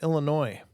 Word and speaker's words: Illinois: tonight rather is from Illinois again with that s that makes no noise which is actually funny